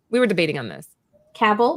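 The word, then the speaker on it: Cavill: were debating on this caval Henry caval caval not not cavl I know I did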